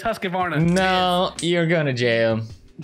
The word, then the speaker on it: Husqvarna: you're gonna fix it no mispronunciation of host covarna all right okay you're going to jump so many comments in that video everybody like it's husqvarna no you're going to